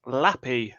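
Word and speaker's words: lapi: slash l api um pronounce lappy a little bit like happy without the h so there is a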